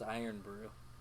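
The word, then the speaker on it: Irn-Bru: it just what wikipedia said iron brew it's pronounced iron brew what is it it's order some carbonated water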